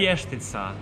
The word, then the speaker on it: vještica: grandmother used to say Vichitsa, but I'm not saying it right. Here's how we The said it. vještica.